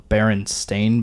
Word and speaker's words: Berenstain: The Berenstain Bears. I watched the Berenstain Bears. Shut up. Yeah, it went up like 9. No, it's actually pronounced Stain.